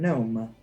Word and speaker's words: gnome: sounds kind of like the word gnome. But like gnome starts We're with talking a G. But gnome starts with a G. Silent G's, dude.